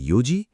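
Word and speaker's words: よじ: বারোটা বলতে বল জুনিজি এখন দুটো বিশেষ ব্যাপার মনে রেখো চারটের সময় ইয়ন না বলে বলতে হয় ইউজি আর নয়টার সময় কিউ না বলে বলতে হয় কুজি এই দুটো একটু আলাদা অনেকে এখানে ভুল করে মনে রেখো চার মানে ইয়োজি নয় মানে কুজি চল আবার একবার বল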